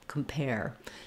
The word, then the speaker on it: compare: in this case though we're saving our clear vowel for the stress syllable pair and we're having a reduced vowel in the first syllable compare when we move to comparable